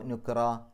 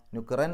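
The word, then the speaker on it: نُكْرًا: അതിനെ മദ് എന്നാണ് പറയുക അപ്പോ നുക്റ നുക്റൻ എന്നല്ല നുക്റ എന്ന് പറഞ്ഞിട്ടാണ് പാരായണം നിർത്തുക ഫാബാല അംി അവിടെയും റ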